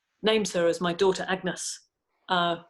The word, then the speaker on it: Agnes: her as my daughter Agnes uh which would have been pronounced a bit like the French Any or MS at the time and I was so